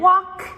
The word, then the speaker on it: walk: And then walk as well, W-A-L-K, even though it is not pronounced like that.